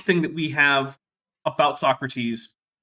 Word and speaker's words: Socrates: who i believe is called so crates i think that's how you say it you think that's how you say that did you have a terrible unfortunate run-in with some tea yes it was in fact socrates all right so um